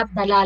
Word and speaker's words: Abdalá: María, la historia de María Abdalá, la balada de María Abdalá. Abdala. ¿Crees tú, Abdalá, es un homenaje? Así pronunciamos en árabe.